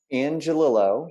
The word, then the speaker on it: Angelillo: name for me so i say it right angelilo which means little angel in italian that's how